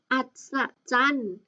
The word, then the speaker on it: อัศจรรย์: อ้า ถูก ต้อง ค่ะ อัศจรรย์ อัศจรรย์ เห็น ไหม คะ มี ยอ ยักษ์ เป็น ตัว การันต์ เรา ไม่ อ่าน ออก เสียง ยอ ยักษ์ นะ คะ คำ สุด